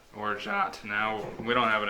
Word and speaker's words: orgeat: You pronounce it like orgeat. Orgeat. Orgeat.